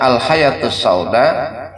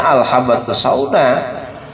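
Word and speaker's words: الحبة السوداء: Dia baca akhirnya al-hayatus sauda apa syifaun min kulli da'in. Padahal itu hadis bacanya al-habbatus sauda.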